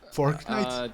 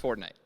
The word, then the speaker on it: Fortnite: Fork knife? Did you say fork knife? It's actually pronounced Fortnite.